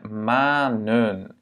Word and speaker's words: manen: met ça au pluriel, ça devient manen. Voyelle, consonne, voyelle. On veut garder le A, le long A, donc du coup, ce qu'on fait, c'est recourir à cette structure pour que le premier A soit long. OK?